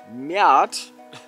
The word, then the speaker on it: Met: Den Mert. Der war ganz interessant, vor allem als er warm war. Das wird übrigens Miet ausgesprochen, ne?